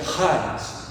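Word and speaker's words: χάρις: Então seria como se você mais ou menos falasse charis, mas seria charis, tá?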